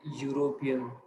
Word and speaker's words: European: There are nouns that begin with e and u, but have the y u sound. We say a university or a European pronounce university and European.